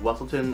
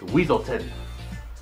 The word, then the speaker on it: Weaselton: And while they pronounce it like Weaselton in the movie, he corrects them by saying it's Weaselton.